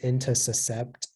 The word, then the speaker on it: intussuscept: Yeah, so the only pronunciation is intussuscept.